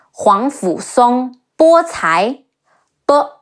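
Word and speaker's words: 皇甫嵩: En, Shun, Gao Shun, Huang Fu Song, He Wu Ang, Huang, Fe Wu Fu, Si Ong, Song, Huang Fu Song, Bo Cai, Bo O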